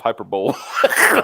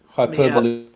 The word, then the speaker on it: hyperbole: There's some weird words like hyperbole. It looks like it should be pronounced hyperbole.